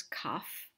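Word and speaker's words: כף: in the final pay it's almost always pronounced as an f f sound so these two letters together make a word which is cough which means the palm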